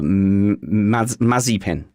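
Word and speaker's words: Mazepin: i can guarantee that mazapan will put it in a wall that's what i can guarantee i think it's uh mazzy pin is the pronunciation marzipan yeah mazzy pin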